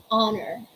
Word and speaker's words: honor: let's say hour ah hour honest off honest honor oh honor a little like that so we're